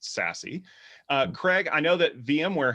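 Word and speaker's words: SASE: something called secure access service edge which is pronounced sassy craig i know that vmware has really been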